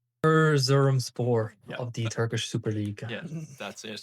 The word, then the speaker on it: Erzurumspor: course, do you want to give that a pronunciation for us? Erzurumspor of the Turkish Super League.